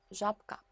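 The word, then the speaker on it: żabka: 잡카. 부도 아까 유성음이라 그랬죠. 첫 번째 유성음. 이 유성음을요. 짝꿍인 푸로 바꿔서 잡카. 이렇게 발음을 하셔야 돼요.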